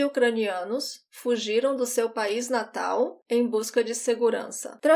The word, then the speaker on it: natal: The other thing is the pronunciation of Natal. I talked about the L before. I don't roll my tongue. Natal.